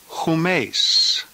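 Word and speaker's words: ὑμεῖς: said in the plural the nominative is whom ace who makes here the rough breathing sound in front who mace notice that the translations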